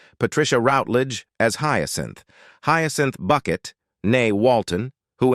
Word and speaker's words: Bucket: routage as hin hin bucket nay Walton who insists her surname is pronounced bouquet is the central character